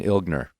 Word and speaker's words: Ilgner: And one thing I found out is that you do pronounce the G in Ilgner. Just slightly.